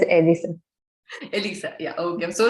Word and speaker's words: Elisa: Yes, it's pronounced as Elisa.